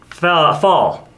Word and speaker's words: FAL: bush warrior 18-inch barrel fall it's pronounced fall because of um how extensively it was used in the conflict in the falkland islands yeah famous and notable